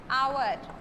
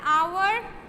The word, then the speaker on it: hour: consonant, like say honest, hour, they look like they begin with a consonant, that is H, but the sound is that is coming is not of H but O, because this is silent and this is also silent.